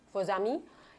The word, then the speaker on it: faux amis: fb-nya karena ada apa faux amis ya itu bacanya kalau Perancis base pernahnya khuzami nah fake friend Ya